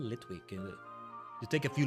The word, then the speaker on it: Litwick: Lidwig suit. Sounds kind of nasty when you say it like that. Lidwig suit. Almost like saying licking suit. I don't know why I'm thinking that. But it's called Litwick.